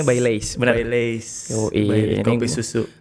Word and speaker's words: Baileys: Bacanya Baileys, benar.